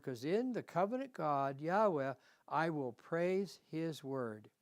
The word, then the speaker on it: Yahweh: That's Yahweh or Jehovah as a lot of people say it. But the name is actually pronounced Yahweh in Hebrew.